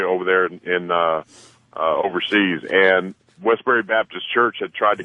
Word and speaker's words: Westboro: We had a local soldier that passed away over there in overseas, and Westboro Baptist Church had tried to come in, apply for permits. Or did I say it right? No, Westboro.